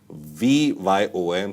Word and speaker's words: VYOM: skip properties new initiative it's called V yom so you can pronounce it as it's comfortable for you but vom what I think is the best pronunciation maybe users can list